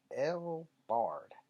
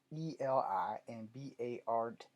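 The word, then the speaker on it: Eli Bard: But along with other DC's mutants, he was resurrected by Selene and El Bard. I'm pretty sure I messed that up. Eli. Eli and Bard is how you say it, whatever.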